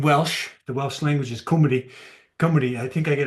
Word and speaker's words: Cymru: the Welsh language is Cymru. Cymru, I think I get it right. Cymru. It's Kymrie. It looks in English it looks that way.